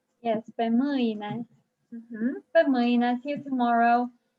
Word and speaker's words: mâine: Make sure you pronounce the word for tomorrow with all the diacritics in it. Moina. Yes, pe mâine.